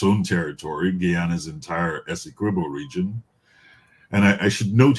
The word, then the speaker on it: Essequibo: use of Essequibo, and I just want to be very clear that it is Essequibo, not Essequibo.